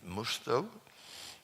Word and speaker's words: Musto: Y por tanto me disculpo de, digamos, el que dude de mis palabras, consulte a Mustoe. Musto se dice, por cierto, en inglés. Musto se escribe.